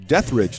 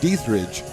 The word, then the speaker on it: Dietrich: Panthers lead it 2-0 on a home run from, as we've been schooled, Eliza Dietrich, not Dietrich, as the umpire came and told us.